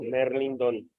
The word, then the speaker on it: Mérlindon: Donando a mi cuenta, está en mi canal de YouTube, tal cual como aparece aquí mi nombre abajo, Merlindon, con acento en la E.